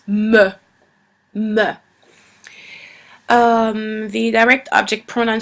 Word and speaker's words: me: me don't pronounce it me it it uh it's written the same uh as the English version but it's not pronounced the same it's pronounced meh um the direct object